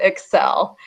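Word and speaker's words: ECCEL: and emotions lab and we do pronounce it excel excel there we go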